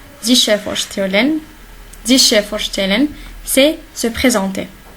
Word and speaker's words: vorstellen: On a dit que ST, il se prononce comme ch. Sich vorstellen.